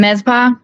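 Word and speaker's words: Mizpah: Yeah, the med spa, MIZPHA.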